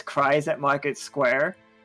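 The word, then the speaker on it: Kries: them it just says cries at Market square it's weird because it's spelled k r i e and then the S but like there is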